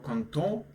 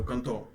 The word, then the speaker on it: content: So because we are men, we would pronounce it like j'étais vraiment content. Okay, so content. Pay attention to this ending. But whenever we put e, we would pronounce it like j'étais vraiment contente. Okay.